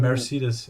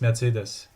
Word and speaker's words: Mercedes: Mercedes. I don't know how to pronounce it in American language, but in German it's Mercedes. Mercedes. Close enough. Yeah. Yeah, The German pronunciation should be the correct one.